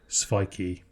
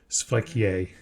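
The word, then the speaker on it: sveiki: I mean, for example, if you want to say hello in Lithuanian, it looks like sviki. Sviki. Yeah, but it's not. It's svikie. It's like some little weird... Svikie.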